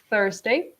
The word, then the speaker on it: Thursday: So if you've noticed, so Carl has used th for the first syllable, for the first consonant, Thursday.